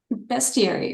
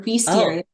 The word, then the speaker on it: bestiary: Tell us the name of your bestiary or bestiary. I pronounce it both ways depending on my mood.